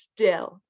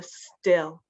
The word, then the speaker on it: still: out steel and then the second one's just still I I the I sound so still Ste and still heart